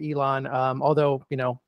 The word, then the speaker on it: Elon: sure to add no uh just uh it's Elon University so El n Elon um although you know Ellen University sounds cool too so it does I'm